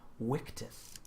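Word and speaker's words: Victus: Linus is water and apparently actually I was looking on the Forum it's pronounced wickedus the uh the life according to the form yeah whatever um so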